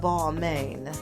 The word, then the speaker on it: Balmain: for the House of Balmain. Yes, that's how they pronounce their house, because they're the main motherfucking attraction.